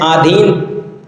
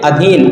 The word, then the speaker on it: अधीन: बाद आगे देखते है आधीन आधीन नहीं अधीन अधीन एक मूल शब्द होता